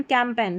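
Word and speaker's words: campaign: Sign design यहां पर है फॉरेन कैंपेन तो लास्ट में देखिए जी एन आ रहा है। ठीक है? इसको न करके प्रोनाउंस कर देना है क्योंकि जी एन में जो जी है वो साइलेंट है।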